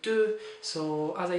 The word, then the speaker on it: deux: So be careful, this is not deux, but deux.